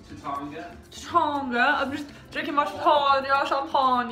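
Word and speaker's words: Taittinger: Just drinking our Tattinger. Is that how you pronounce it? It's Tatanga.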